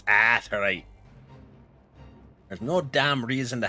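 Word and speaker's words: Aetheryte: Because there's an A, so you pronounce the A, damn it. Where do I... This direction, right? I will stand on this business that it's Aetherite.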